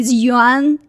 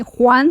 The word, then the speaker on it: Yuan: Yuan is the same pronunciation as Chinese currency. A lot of people cannot pronounce it. They call me Juan for some reason, or Yang.